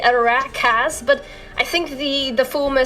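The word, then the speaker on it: Arachas: Well, I think everyone by now knows I pronounce it Arajas, but apparently it should be Arakas, but I think the former sounds a lot better when I say it.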